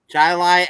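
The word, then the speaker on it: Chili: for the country Chile you know what they call it in Rochester where chai see yeah Chilai Avenue in Rochester New York and it runs right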